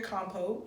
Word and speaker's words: compote: It's like a berry compote.